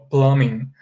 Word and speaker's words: plumbing: okay or plumbing system the letter b is not pronounced okay plumbing plumbing system so uh